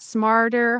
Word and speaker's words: smarter: Yeah, it's a flap t but it's a little complicated because of the r sound.